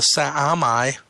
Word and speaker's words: Sa'amai: Their planet is called the Sa'amai, 3 syllables.